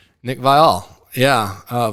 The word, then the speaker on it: Viall: top this is awkward it's okay how to pronounce Nick vial yeah uh vile I've said it wrong the whole show uh